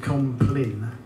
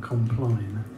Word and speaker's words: Compline: somebody you should know it's called office of compin rather than compline they not like a